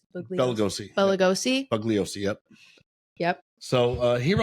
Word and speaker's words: Bugliosi: Vincent, and pardon my pronunciation of his last name, Bugliosi. Bugliosi.